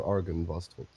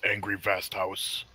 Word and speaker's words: Argynvostholt: But tomorrow, I believe we are going to set off for Argynvostholt. He mispronounced that. It's Angry Vast House.